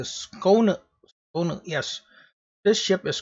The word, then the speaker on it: Skåne: So this is the, after I Google it, it's like the Skåne. Skåne, yes. This ship is called the Skåne. Alright, so I'm going to title it the Skåne, the torpedo spammer.